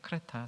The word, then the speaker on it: 크레타: 디도서의 배경은 그레데라는 섬이죠. 요즘 발음은 크레타라는 섬인데 그리스의 제주도다, 이렇게 정리하시면 됩니다.